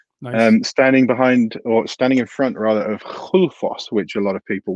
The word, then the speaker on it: Gullfoss: standing in front of Gullfoss, which a lot of people will pronounce Gullfoss because that's the way it's spelt.